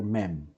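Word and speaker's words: מם: Now, at this point, I think you are already familiar with this letter, and this is the letter mem. Mem. So, mem sound m.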